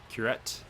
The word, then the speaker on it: Curette: I did look up how to pronounce his last name. It is Curette.